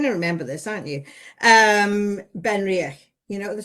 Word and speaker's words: Benriach: Benriach, I always think reach for the Ben because it's what it says on the tin, guys. Reach for the Ben, Benriach. Benriach. It's how you actually pronounce it.